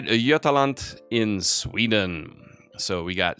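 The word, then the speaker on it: Jämtland: so the state of i always mispronounce this but i'm going to say yetalant in sweden so we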